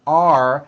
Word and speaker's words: are: The first word are has a strong R sound at the end.